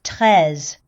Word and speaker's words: Treize: So, should be pronounced tres, but anime doesn't care about that kind of stuff.